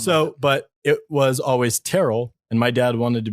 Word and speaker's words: Tyrrell: Jama it's typically pronounced it's typically pronounced Terell oh Warren other question